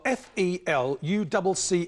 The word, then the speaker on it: felucca: What is a felucca, spelt F-E-L-U-C-C-A, pronounced felucca?